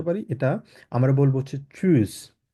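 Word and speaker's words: tschüss: এটা আমরা বলবো হচ্ছে চুজ কিভাবে বলবো চুজ কারণ এখানে টি এর উচ্চারণটা থাকবে না এস সি এইচ টাকে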